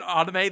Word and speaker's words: anime: Have I said anime this whole time? I don't know why I've been saying it like that. I tend to say anime because that is the Japanese Japanese pronunciation.